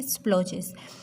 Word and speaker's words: splodges: Hair D is silent. Okay, स्प्लोजेस.